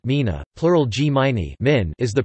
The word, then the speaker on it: gmina: The Mina, Polish pronunciation Mina, plural gminy, min, is the principal unit of the administrative division of Poland, similar to a municipality.